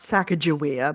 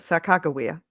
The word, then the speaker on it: Sacagawea: By the way, that's Except the correct pronunciation of her name, not Sacagawea, but Sacagawea.